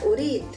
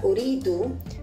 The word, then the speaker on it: أريد: Ana urid. Ana urid. Now, if there is another word coming after urid, you may want to hook an O sound at the end. It goes like this. Ana uridu.